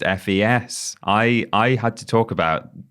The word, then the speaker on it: FES: I have just learned from you that it's just pronounced FES.